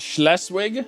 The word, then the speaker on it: Schleswig: of ireland perfect perfecto it's pronounced schleswig schleswig schleswig schleswig less wig with a sh in front shh less wig last